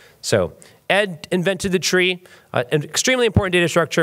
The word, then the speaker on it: trie: actually you pronounce it tree it comes from retrieval uh which in English is RT r i v l so Ed invented the tree an extremely important data